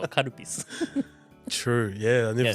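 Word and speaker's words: カルピス: When you say it in English, kalpis. A lot of my foreign friends kept on saying that, like, oh, this, what? How do you say this word? Karupis. Wait, what? Kalpis? No, karupis.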